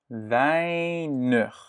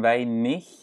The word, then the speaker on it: weinig: Weinig. Ça ne se prononce pas comme weinig. Nee, weinig. Hein?